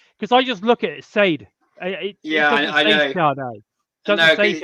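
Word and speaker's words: Sadè: Sade. Yeah. Yeah, okay. All right, yeah. Dude, next time we'll get you to say it. It's fine. Because I just forget. Because I just look at it, Sade.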